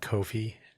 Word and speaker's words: Ko-fi: I usually pronounce it Ko-fi if I'm saying the URL, but for this audio program, it can be pronounced any old way.